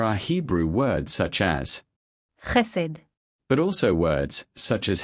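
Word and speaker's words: חסד: This is how these two words are pronounced. Charis. hesed.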